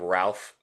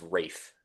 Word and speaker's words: Ralph: I I've always been calling him Ralph Fines. Wraith. And Schneer told me yesterday that his the L in his name is silent. It's Rafe. Yeah, Rafe F.